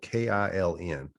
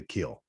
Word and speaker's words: Kiln: Now it's spelled K-I-L-N, just like the town is spelled K-I-L-N, but they pronounce it the Kill. They don't just call it the kiln or kiln. They just put the Kill.